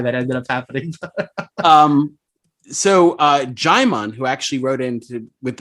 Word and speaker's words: Jaimon: All right, back to Jaimon, who not Jimon like Digimon, but Jaimon. And for reference, he put in phonetically, as in Jai Courtney.